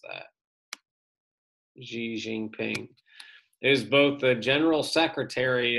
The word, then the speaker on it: Xi Jinping: party leader is also the country's leader currently xi jinping that's how you pronounce that xi jinping is both the general secretary of the chinese